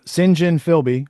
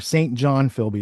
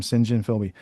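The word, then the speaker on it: St John Philby: Uh Singhen Philby or St. John Filby is how Americans say it, but his name Singhen Philby.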